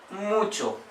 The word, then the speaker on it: mucho: bye no chain chain how Che is pronounced in Spanish like Church in English she pronounce it for example mucho mucho means much e